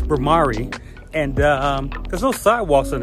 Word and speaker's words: Bhramari: I've been saying the name wrong, Bhramani. It's Bhramari.